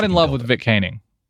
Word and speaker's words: Koenig: I'm not in love with Vic Koenig. I believe it's Koenig. Is that how you pronounce it? I looked up the pronunciation guide.